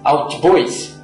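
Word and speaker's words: hautbois: vem do nome francês albis que significa madeira alta devido ao seu registro Agudo embora a pronúncia atual de albis se assemelha a oboa até o século 17 a pronúncia eraa oboé o nome permaneceu assim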